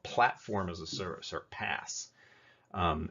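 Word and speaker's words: PaaS: as a service or pass um it's spelled p-a-a-s it's pronounced p-a-s-s pass um with platform as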